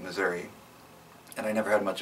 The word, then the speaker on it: Missouri: i personally pronounce it missouri and i never had